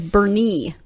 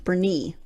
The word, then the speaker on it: Boerne: isn't this commonly mispronounced born by out-of-towners the correct way to say this name is Bernie emphasis on the knee Bernie and I don't think